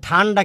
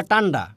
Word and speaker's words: ঠান্ডা: কবর দেখব, অর্থাৎ খকে ক উচ্চারণ করে। ঠিক আছে? ঠান্ডা কি বলে? টান্ডা।